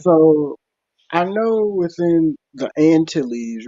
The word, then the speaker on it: Antilles: Actually, in French, we call it Antilles. When you have the double L, it's pronounced like a Y.